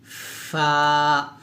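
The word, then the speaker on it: ف: দাঁতের আগার সঙ্গে লাগিয়ে ফা উচ্চারণ করতে হবে নরম করে যেমন ফা ফাটা যখন উচ্চারণ করবেন অবশ্যই একটা বাতাস বের করবেন ফা এভাবে অর্থাৎ নিচের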